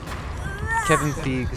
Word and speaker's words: Feige: Well, I was thinking of Paul Feig, who is pronounced like that, and it's spelled the same. No, you gotta say it like Matt Wall. Feige. Feige. That's how he says it.